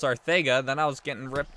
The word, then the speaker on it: Arcega: Oh my gosh, I was getting roasted for pronouncing Arcega Whiteside's name wrong, because I was saying Arcega Whiteside like the announcers, but it's pronounced Arcega.